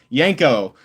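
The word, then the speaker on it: Janko: I knew I was not pronouncing it correctly. I knew it. Yanko.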